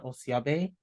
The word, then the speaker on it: Osiobe: long um my name my full name is pronounced um osiabe um the name of my family's Foundation is